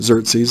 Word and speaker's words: Xerxes: and so his son xerzes then takes over uh that's how you say his name xerxes at least that's why i've heard everybody say it starts with the next i know it looks exorcise but anyways so he